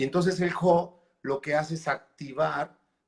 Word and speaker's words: ho: Uno que es un prefijo, que es el ho, de hecho, por lo que entiendo, se pronuncia ho, y significa, es un prefijo que activa lo que sigue después de él, ¿no?